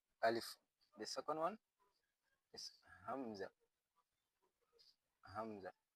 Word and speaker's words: hamza: The second one is hamza. Hamza. So we will use a deep voice when pronouncing this one.